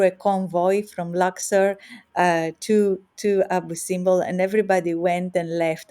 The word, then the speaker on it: Abu Simbel: Eugene says, "Did you visit Abu Simba? It's his most favourite place in Egypt. Is that have I said it right?" Abu Simbel, Abu Simbel, yes, it's one of my favorite places as well, Eugene.